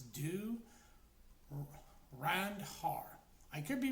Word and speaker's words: Dhurandhar: And the title, if I'm actually getting this right, the H is silent, so it's do Randar.